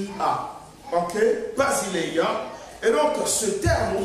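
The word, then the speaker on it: βασιλεία: royaume des cieux le royaume de Dieu c'est basiléa ça s'écrit bien ça s'éppelle B a s i l e I a ok Basilea et donc ce terme ou bien ce mot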